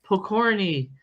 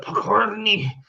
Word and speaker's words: Pokorny: And I love the way you pronounce my name, Pokorny, and you roll it, Pokorny.